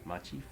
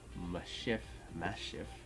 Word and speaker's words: Maschiff: We're going to put that down, and then we are going to read the Japanese version of the name, which is Orachifu. So that means that this would probably be pronounced Maschiff. Maschiff?